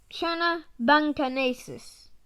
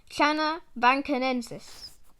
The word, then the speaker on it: Channa bancanensis: Scientific name: Channa bancanensis. Pronunciation: Channa bancanensis.